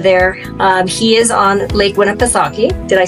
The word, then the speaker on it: Winnipesaukee: He is on Lake Winnipesaukee.